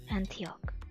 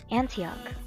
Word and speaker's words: Antioch: Antioch. Adiohia. Adiohia. Adiohia. That is amazing. This is gorgeous. Antioch. Antioch. Adiohia. Antioch. I'm pretty sure it's the English pronunciation. Antioch.